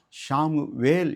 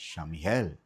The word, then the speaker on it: சாமுவேல்: அப்போ நாம் இனி ஷாமுவேல் என்று உச்சரிக்காமல் ஷமிஹேல், ஷமிஹேல் அப்படி என்று உச்சரிக்கணும்.